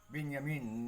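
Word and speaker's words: בנימין: Israel is Benin netanyahu benyamin netanyahu the proper pronunciation benyamin which mean the son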